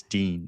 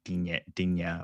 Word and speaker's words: Digne: It's Dean, not Digne, or however you pronounced it.